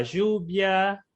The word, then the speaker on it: lluvia: sí, suena más como un L y H, pero, Mm, pero lanzándose a una jota brasilera, pero más suave.